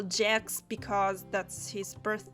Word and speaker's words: Jacks: for convenience we'll call Jax because that's his birth name apparently. It's not a mistake in my pronunciation, there's actually an S at the end of Jack, so yeah, he's called Jax.